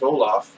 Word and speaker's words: Olaf: His name rhymes with rice pilaf. If you were going to give a gold medal to Count Olaf, you would have to